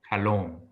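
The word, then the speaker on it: חֲלוֹם: Probably I'm just kind of varying slightly in my pronunciation of it, but ideally it's pronounced something like kalom.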